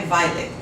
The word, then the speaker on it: Violet: Minha Vida de Rata conta a história de Violet, mas a pronúncia é Violet.